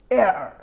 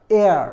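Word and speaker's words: heir: এখানে সবাই জানো এই এইসের উচ্চারণটা কিন্তু নাই, এখানে উচ্চারণটা কিন্তু এইটুকু মিলে হয়, এয়ার, এয়ার মানে হচ্ছে উত্তরাধিকারী, যারা জানো তারা তো বুঝেই যাচ্ছ।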